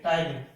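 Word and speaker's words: ptyalin: टाइलिन में P silent रहता है, PTYLIN, टाइलिन।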